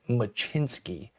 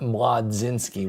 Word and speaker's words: Mlodzinski: But yeah, that is Carmen Machinsky, not Mladzinski, which is how I used to pronounce it.